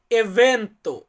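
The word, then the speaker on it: evento: অনুষ্ঠান এটাকে বলা হয় এভেন্ত এভেন্ত ইংরেজিতে আমরা যেমন বলি ইভেন্ট এটাকে আমরা ইতালিতে বলবো এভেন্ত এভেন্ত মানে হচ্ছে অনুষ্ঠান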